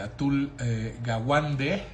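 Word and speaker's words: Atul Gawande: Eh, hay un libro espectacular eh de atul eh Gawande. Eh, se escribe atul, así como suena, como atún, pero con l de Luis al final. Y gawuande es con g a w a n d e que se llame que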